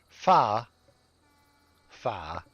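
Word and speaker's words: phở: artist for that correction fa fa with an a even though it's spelled pH fo but fa fa is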